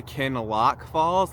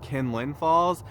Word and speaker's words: Kinlock Falls: Okay, so in this video, I'm actually taking you to Kinlock Falls, not Kinlin Falls, and I apologize for pronouncing it like Kinlin Falls throughout the entire video.